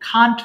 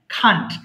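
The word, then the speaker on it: can't: তারপর পড়বেন হ্যাঁ দেখেন এর উচ্চারণটা কি ক্যান নট কে আমরা একসাথে বলবো খান্ট বলবো হ্যাঁ খান্ট সবাই একসাথে খান্ট বলবেন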